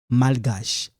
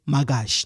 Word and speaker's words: malgache: José est malgache. Mal. You know, like when you say mal à l'aise, mal, this L, you pronounce it malgache. You don't say magache, no.